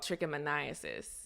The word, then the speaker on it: trichomoniasis: causing the infection and the infection is called trichomoniasis okay that's the one you can just call